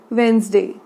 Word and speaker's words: Wednesday: बुधवार को कहते हैं वेंसडे। स्पेलिंग देख लीजिए WEDNESDAY। ठीक है, वेंसडे। इसको पढ़ते कैसे हैं? वेंसडे।